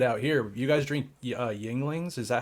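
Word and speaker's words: Yuengling: You guys drink Yinglings?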